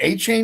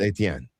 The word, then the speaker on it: Etienne: He's from Louisiana, and Etienne, which means Stephen in French, and I'm French, is pronounced Etienne.